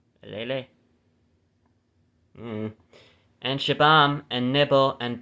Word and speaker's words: Elealeh: Nimrah, and Heshbon, and Eliel, however you pronounce that. It's Elealeh. Eliele, I guess. Elele.